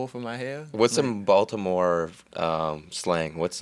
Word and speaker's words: Baltimore: say Baltimore to me there's no T in Baltimore it's a d Bal okay Baltimore Baltimore Baltimore yeah it's Baltimore and